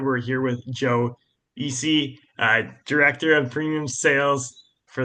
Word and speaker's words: Isse: Um so with that being said, we're here with Joe Eie, director of premium sales for the Portland Timbers.